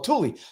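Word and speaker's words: Thule: that and it used to be THU or Tulie not THU it's written tul uh THU but pronounced Tulie used to be Tulie before there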